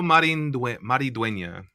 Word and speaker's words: Maridueña: Headlined by Cobra Kai star Jolo Mariduena. Mariduena. Right. Jolo Maridueña.